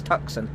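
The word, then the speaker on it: Tucson: The funny thing is the Americans actually call that Tuson. Ton. Oh my god. But no, but I speak English so I'm going to say it how it's pronounced. It's Tuxen. Yeah, it's Tuxen Arizona.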